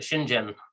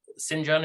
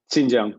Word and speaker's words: Xinjiang: abuse in the ice i've always pronounced it the shinjin but it sounds like sanjin or xinjiang is closer xinjiang yeah um and in